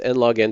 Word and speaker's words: n log n: It's just pronounced n log n time.